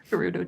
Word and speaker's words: Gerudo: Gerudo Town. Yeah, Gerudo. Burrito rhymes with Naruto.